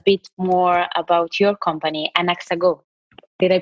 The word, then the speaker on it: Anaxago: Then you can tell us a bit more about your company, Anaxago. Did I pronounce it correctly?